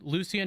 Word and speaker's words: Lucian: just to clarify, it's pronounced Lucian, not Lucian. Is that correct?